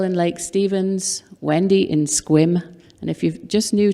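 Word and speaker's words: Sequim: Cocoa, Florida, Dale in Lake Stevens, Wendy in Squim, and if you're just new to this part of the world, that's how they pronounce it.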